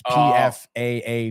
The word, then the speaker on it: Pfaadt: Because I remember you asking me how to pronounce that last name. It's Pfaadt.